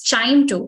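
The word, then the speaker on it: QIIME 2: about K to the makers say that it's pronounced as Chim to and not K so you all are free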